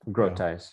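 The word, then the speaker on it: Grotius: go to doug brutis it's a group ties right that's how you pronounce this uh grotice grow ties yeah uh tim mcgrew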